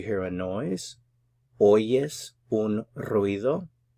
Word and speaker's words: ruido: ¿Oyes un ruido? You have to work a little bit on rolling your R's here.